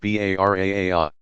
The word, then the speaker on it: Bara'ah: On the 15th of Shaban, many Muslims, especially in South Asia, observe the Night of Forgiveness, Laylat al-Bara'ah, pronounced Bara'a.